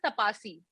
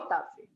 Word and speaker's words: Taapsee: Like it used to be always Tapasi, Tapsee, Tapsee, I have some really crazy pronunciations during my school college time. What's the meaning of Taapsee?